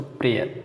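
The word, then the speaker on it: prayer: अब देखिए वाई कहाँ साइलेंट होता है, तो वाई के लिए केवल 2 शब्द हैं जिसमें साइलेंट होते हैं दोस्तों, प्रेयर, इसमें आपको पढ़ने से लग रहा है कि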